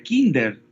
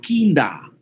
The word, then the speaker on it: Kinder: niños en alemán pero no se pronuncia kinder sino kinda es como y también